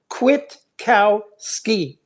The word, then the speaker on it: Kwiatkowski: When I finally heard Judge Napolitano say, it goes like this: quit, like you were going to quit a job. Kwiatkowski, Colonel Kwiatkowski.